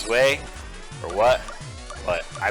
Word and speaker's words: Zwei: I don't know if you pronounce it Zwei, or if it's Zwei, or what, but I pronounce it Zwei.